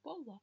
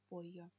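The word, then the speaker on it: pollo: Допустим, гаина, курица, пойо, цыпленок. Не поло, а пойо. Это будет произношение буквы эйе.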